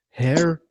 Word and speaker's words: Hiraeth: to talk to trev podcast with the band hereth i actually got the pronunciation correct because i lived in wales i worked in wales and i've got family in wales hair so so that so then we're saying it